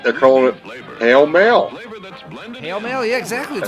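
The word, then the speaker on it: Pall Mall: a regional Mandela effect it's always been pronounced pale male I've always hold heard it called Paul Maul because the word mall in it.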